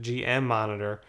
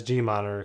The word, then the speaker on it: GMonitor: going to pay attention to that so the G monitor is right here some people pronounce it GM monitor but uh just says G monitor could get confusing and down here it says